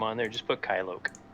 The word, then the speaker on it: Kylok: So if you want to change that name on there, just put Kylok. How do you spell it?